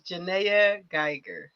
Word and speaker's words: Janaya Geiger: I think I'm getting ready to butcher her name, so I'm not gonna even pronounce it. My name is Jana Gger.